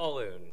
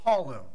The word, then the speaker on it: Paulun: Paulun. Paulun, okay. Like the boy's name Paul, and then it rhymes with typhoon as my okay.